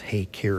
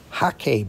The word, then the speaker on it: hake: you may hear it pronounced hey care in the u.s but it is the hakay brush from china it is a goat